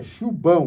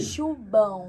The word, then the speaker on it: Chubão: É Chubão, com B. Chubão.